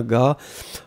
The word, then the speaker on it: gars: Ouais, faites attention, Ashley, un gars, c'est G-A-R-S. Hein. Vous avez un S à la fin qu'on ne prononce pas, mais c'est, il n'y a pas de problème, effectivement.